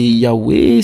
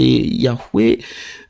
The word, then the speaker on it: Yahweh: veut parler de Dieu, si c'est YHWH, on ne peut pas prononcer, c'est Yahweh, c'est Yahweh, YHWH, finalement, qu'est-ce qu'on fait?